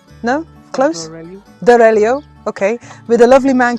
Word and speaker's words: Foz do Arelho: Portugal, in a place that I can't yet pronounce, with a person who must not be named. Sorry, no, I think it's called Foz de Lahero. No, close. Dorelio.